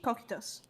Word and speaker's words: Cocytus: How do you pronounce that, by the way? Cocytus. Cocytus. Properly Cocytus.